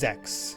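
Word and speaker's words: sechs: Should note that sex is German for six and pronounced Zex.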